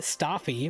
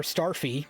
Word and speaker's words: Starfy: can play this is the legendary stafy or Starfy depending on how you want to pronounce that letter r that doesn't exist in Japan the fourth game in